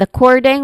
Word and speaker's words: according: formal and academic and pronunciation is starting with a cording which where the stress syllable is on the second syllable core. It starts with a schwa sound uh and then core the stress syllable and then ding which is short e sound and then ending with a nasal sound ng or n sound.